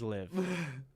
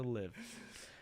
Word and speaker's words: LIV: Fusty traditionalism, stating or starting with its name, which when pronounced rhymes with give. So it is live. Okay. So I'm saying it wrong all the time. So live.